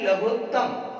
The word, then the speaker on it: लघुत्तम: और हम जो गणित में पढ़ते भी हैं एलसीएम एससीएम, तो वो ये लघुत्तम ही होता है, न कि लघुत्तम। दुर्भाग्य से हम उसका उच्चारण कर देते हैं लघुत्तम।